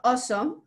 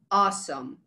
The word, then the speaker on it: awesome: Entonces, bueno, volvemos al ejemplo de awesome. Es como un poco como la O, ¿no? Awesome.